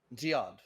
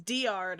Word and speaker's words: Giad: Oh, Giad. Repeat that? Giad. Giard. Okay. Giad. Okay. It's like geode, but pronounced weird. The Giad. first one I heard was Diard, and I was like, that doesn't sound right.